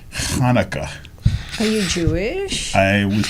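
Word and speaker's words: Hanukkah: a high and actually Hanukah doesn't begin with h it begins with ch and it's Hanukah are you Jewish I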